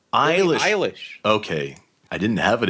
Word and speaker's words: Eilish: How is it meant to be pronounced? Eilish. Eilish.